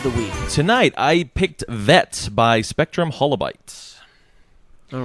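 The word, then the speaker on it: Vette!: First and foremost, I will say that this game is spelled V-E-T-T-E, vet as in short for Corvette.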